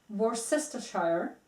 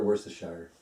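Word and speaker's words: Worcestershire: most mispronounced word in eng let me jeez worest Shire almost and how is it pronounced correctly wor wor wor sure worshire wor it's it's a it's a city in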